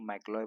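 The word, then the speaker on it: McLeod: MACLEOD capital है, इसको मैक्लॉय पढ़ते हैं, डी साइलेंट जाएगा।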